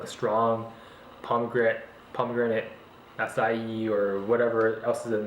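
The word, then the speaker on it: açaí: I don't smell the acai at all. Oh, is that how you pronounce that? Yeah, acai.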